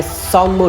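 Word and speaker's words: Tsomgo: lake यह है संगमो lake T silent है संगमो लेक फेमस लेक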